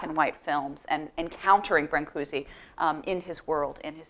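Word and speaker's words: Brâncuși: I'm going to call him Brancusi, but if I were really Romanian, it probably should be something more like Brancusi.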